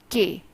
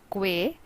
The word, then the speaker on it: que: The next word is que. It is not que, but it is que.